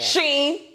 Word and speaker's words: Shein: Shein.